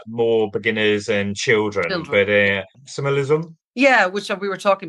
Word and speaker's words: Axamer Lizum: I think you've been to, and neither of us are sure of the pronunciation, but it's Axamer Lizum. Yeah, Axamer Lizum. I listened to the pronunciation today.